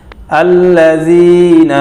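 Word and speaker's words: الذين: হিম সা হু না, আল্লাযীনা হুম আল্লাযীনা হুম, জাল নরম করে হা শক্ত হা মোটা হবে, আল্লাযীনা হুম আন সলাতিহিম আন সলাতিহিম সাহুনা, অক্ফ করলে হবে সাহুন, আল্লাযীনা হুম আন সলাতিহিম সাহুন।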